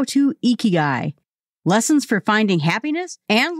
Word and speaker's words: ikigai: okinawa he says that if you're trying to pronounce this word the very first thing you have to do is smile because the sound is best pronounced when your face is in a smile position he says that the